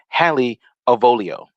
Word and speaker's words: Hallie Avolio: name to a million people at this point halle avolio and and i actually perfect thank you because i had mike peterano uh pronounce it for me like the first time